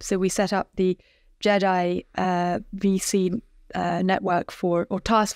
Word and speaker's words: GEDI: By the way, the fund is called GEDI, Gender Equity Diversity Investments, GEDI, a soft G.